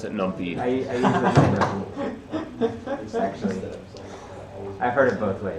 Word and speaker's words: NumPy: And import NumPy. Why not? Arbitrary execution. But it's a nice little thing. Definitely pronounced that numpy for like a good 2 years. Yeah. I still pronounce it numpy.